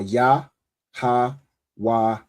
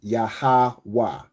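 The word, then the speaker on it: Yahawah: So the letters are ya, ha, wah, and ha. But you pronounce it as yahwa. Right? Yahawa.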